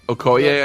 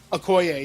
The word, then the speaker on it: Okoye: You see, I can't pronounce the character's name from Wakanda, Oki or something? Okoye, I think. Okoye, yeah.